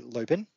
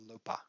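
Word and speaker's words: lopen: as well because in english that would be lopin um but the pronunciation in dutch is lupa so when now i see a sentence that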